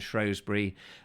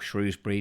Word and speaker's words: Shrewsbury: very well and we made several videos around shrewsbury or shrewsbury depending on how you want to pronounce it um and places in that area